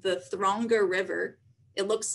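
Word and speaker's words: Þröngá: the little shrunken down p that actually is pronounced the like th so this is the throngo river and thronga and icelandic means narrow yet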